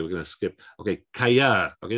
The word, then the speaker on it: callar: Okay, callar. Okay, this is an instance of that double double L, ella, sounds like a Y. Callar. And we've also got the stress on the final syllable.